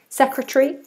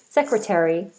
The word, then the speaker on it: secretary: American English, which we use a lot in the UK, Americans say secretary, which we also say in the UK. So either pronunciation is fine. Secretary, British. Secretary, American.